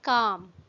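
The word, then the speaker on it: calm: इसमें जो letter L है ये साइलेंट है, हम इसको काल्म नहीं पढ़ते हैं, ये है काम।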